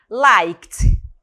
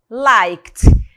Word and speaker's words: liked: Liked, liked. Pronúncia, né? Sonzinho de T aqui, né? Liked mesmo.